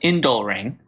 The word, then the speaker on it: Indolering: So first of all, it's pronounced Indolering, which is minor.